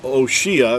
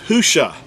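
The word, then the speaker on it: הושע: If you look this verse up, you'll see that where it says Hoshea, that, first of all, that's not even an accurate transliteration. The actual word is Husha.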